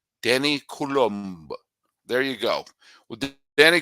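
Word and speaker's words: Coulombe: a FR a French speaking country it's Danny Kul Danny colum there you go well Danny colum came out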